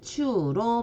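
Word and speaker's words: ちゅう: 주로 읽어줄 때는 일본어로는 추로 발음을 합니다.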